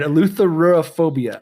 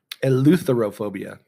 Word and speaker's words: eleutherophobia: All right, eleutherophobia.